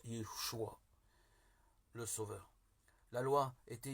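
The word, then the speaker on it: ישוע: Jésus en hébreu se prononce Yeshua, le Sauveur.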